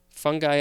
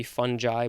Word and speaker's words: fungi: especially by necrotic lesions fungi i guess could also be fungi but i think it's fungi i always mix up that g good j sound in that word let's see this is